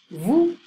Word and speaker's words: vous: Vous, you, formal. So I don't pronounce the S.